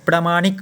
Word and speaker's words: प्रामाणिक: विकर्ण शुद्ध है तो प्रमाणिक कहा गया है तो प्रमाणिक कैसे होता है येसे होता है प्रामाणिक इस तरह होता है प्र यहां पे आ जो होगा प्रामाणिक ऐसे उच्चारण कीजिएगा तब हो जाएगा प्रज्वलित तो